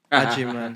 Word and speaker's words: Agyemang: Agyemang, yeah.